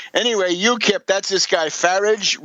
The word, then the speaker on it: Farage: Yip that's this guy farage Rhymes RH rhymes with garbage or other things uh